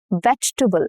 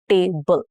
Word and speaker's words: vegetable: Vegetable. So it has about two to three syllables and not four. Okay. Vegetable. Not veable. No. vegetable. Okay, three syllables.